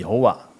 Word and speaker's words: 여호와: 제호바 뭐 이렇게 표현하죠 우리 한글로는 여호와 근데 그 영어는 영어 발음 상은 제호바 뭐 이렇게 돼요 그리고 히브리어 사람들이 표현하면 야회 이렇게 되죠 야회 야외라고 부릅니다 같은 단어예요 근데 그